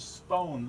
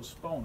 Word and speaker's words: Spon: So, for me, this is how this is actually pronounced is Spon. This line means that's a long O, Spon, or rhymes with bone.